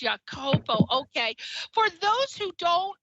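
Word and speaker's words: Iakopo: I pronounced this right is it ikapo or a capo it's ya kopo it has an oh he threw me up i-a-k-o-p-o is how it's but it's your Copo okay for those who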